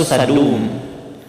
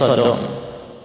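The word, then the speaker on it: سدوم: Dalam bahasa Arab itu Sadum ya, cuma diterjemahkan biasanya Sodom.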